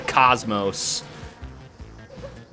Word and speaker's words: cosmos: languages, I don't know, we have a long O sound where you pronounce the letter O exactly as it is, O. Then you have the small O sound, which is ah. So do you use long like O or short like ah? You pronounce it the Xenosaga way, so you say cosmos.